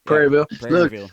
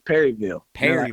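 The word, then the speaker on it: Prairieville: I'm saying it right praireville yeah perville look for me people laugh at me all the time because I don't never annunciate the R so for me it's Perryville perville perland Texas I'm like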